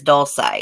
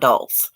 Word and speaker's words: Dulos: glad they did too her name is doll say it's not dull it's doll say don't say Maria alavés